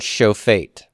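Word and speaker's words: שופט: The second item that he tells you is that sometimes you can have words where the open pretonic syllable becomes a vocal shiva. The open pretonic syllable can reduce.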